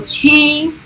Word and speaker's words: qi: And in Cantonese, CHI, or so in Mandarin is Qi, in Cantonese it's actually Hei.